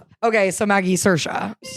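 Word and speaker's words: Saoirse: Cersa. Cersa. Cersa Ronin. Yeah, that's who I'm thinking of right now. She always goes, "Certa rhymes with inertia."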